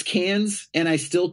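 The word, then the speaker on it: Cannes: know it's not pronounced cons I know it's it's cans yeah that's up are you serious I swear to God like like a tin can dude it's called cans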